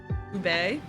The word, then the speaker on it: ube: Probably gonna pronounce this wrong. Ube, isn't it?